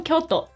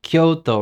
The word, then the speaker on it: Kyoto: sense to native speakers it's important to pronounce it in an english pronunciation wait wait wait arthur